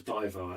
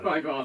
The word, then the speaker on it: BayWa: If you've heard of Bayern Munich or Wolfsburg, particularly big in the women's league in Germany, we can pronounce BayWa. BayWa, yeah, excellent.